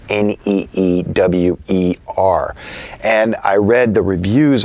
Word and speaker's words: Neewer: a company called newer I think that's how it's pronounced neew er and I read the